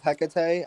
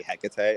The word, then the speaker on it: Hecate: I will say, goddess, I when I work with Hecate, I don't say Hecate, I say Hecate, because to Mm-hmm. me, I feel like that's how her name is truly pronounced.